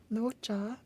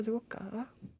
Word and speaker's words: Luocha: The first time Otto went to China, he got the name Raksha from Sushang, and that Raksha can be pronounced as Luocha or Luoka.